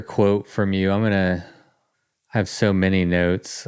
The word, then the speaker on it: Tough: is my real name it's pronounce to in Scotland but yeah my name